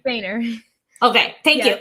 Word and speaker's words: Foehner: Foehner.